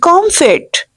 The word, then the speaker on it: comfit: You have to pronounce M and F both, right? Word will be comfit.